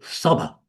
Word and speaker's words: saba: In the it'd be saba. That's how you pronounce it.